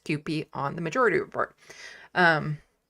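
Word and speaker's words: CUPE: And in case anyone is wondering, it is pronounced QP. Sam was trying to do that and it was really cute seeing him try to pronounce QP on the majority report.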